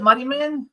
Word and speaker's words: Muddiman: Is that how we pronounce it? Muddyman.